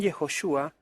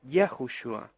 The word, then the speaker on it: Yahushua: como Josué sin embargo es probable que la pronunciación yehoshua no sea la original que mosé dio a este nombre porque los escribas para camuflar la correcta pronunciación del nombre sagrado cambiaron ciertas vocales en los nombres que contienen el nombre del eterno Por lo tanto es posible que mosé nunca le haya llamado yehoshua sino yahushua en tal caso la